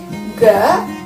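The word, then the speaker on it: が: Ga, za, da, ba. Ya, bukan deretan, ingat, bukan huruf maksudnya, ingat, tapi deretan. Deretan ka berubah menjadi deretan ga jika ditambahkan dengan teng-teng.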